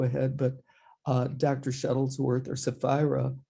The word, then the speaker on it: Sephira: Shuttlesworth, or Sephira, rhymes with Delilah, brings 30 years plus experience as an educator, administrator, trainer, and motivational speaker to our program.